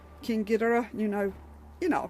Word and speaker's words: King Ghidorah: Now I do have Biollante and King Ghidorah, and yes, I am pronouncing that correctly. I'm sorry, I really hate the way the Americans pronounce it, because that's not the way the Japanese pronounce it.